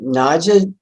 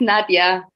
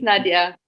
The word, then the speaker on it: Nadia: But in the Naja, am I saying that right? Naja? No, you're saying it wrong. Like almost every American, it's Nadia. Nadia? But it's fine. I'm getting used to it. Yeah, it's Nadia.